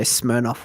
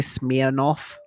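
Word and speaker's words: Smirnoff: not vonka right okay some Americans say smof weird as well I don't know if we're saying it wrong or whether like you guys are saying it wrong but whenever I've watched videos of Americans they say smear off like with a double e instead of an I I don't know why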